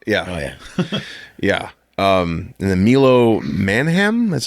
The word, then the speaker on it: Milo Manheim: And then Milo Manheim, that's how you say his name.